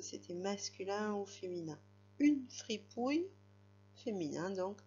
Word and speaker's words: fripouille: Alors, free, la syllabe free, qui s'écrit F-R-I, comme ça s'entend. Free. Puis ensuite, on avait la syllabe pouille. Pouille, qui s'écrivait P-O-U pour faire le pou, bien sûr. Et ensuite, ça finissait par le son I.